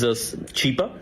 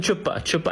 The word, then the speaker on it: Chipa: A humanitarian, his name is Chipa, Mr. Chipa, and she starts mispronouncing, and she calls him Chupa, and yeah, Chupa is look it up, and that became a meme in itself in Pakistan.